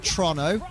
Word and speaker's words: Toronto: pressured my opponent to not switch It's out pronounced to Trono, Pokemon isn't it?